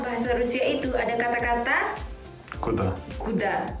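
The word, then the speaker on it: куда: Karena dalam bahasa Rusia itu ada kata-kata kuda. Kuda. How to pronounce it?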